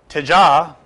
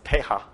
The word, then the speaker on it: teja: The final passage of the scripture says, and the teja of the tejasvanam. Teja is often pronounced with a Spanish accent as teja, but in Sanskrit it's usually with a J, with a very slight J, teja.